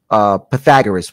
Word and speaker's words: Pythagoras: Pythagoras, what is the correct pronunciation of the name again?